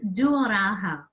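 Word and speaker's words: työrauha: Now, I can't pronounce the term. What is the term? Best. It's duoraha.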